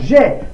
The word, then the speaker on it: j'ai: J'ai, parce que c'est le seul qu'on peut lire AI, qu'on peut prononcer est. On écrit AI, mais on prononce est.